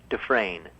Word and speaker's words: Dufresne: It's Dufresne. Is that how you say it? Yeah. It's French, right? Yes, it is.